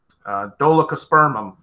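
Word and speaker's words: Dolichospermum: a spot you know it's it's uh dolokospermum is how i would pronounce it but i know that's not always flows off the tongue that way i have no idea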